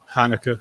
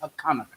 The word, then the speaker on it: Hanukkah: Hanukkah. Hanukkah. Into Hanukkah. The actual pronunciation is Hanukkah.